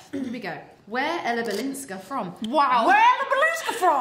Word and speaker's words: Balinska: of the amount of people that will go like. Balinski, and I'm like, dude, is there an A?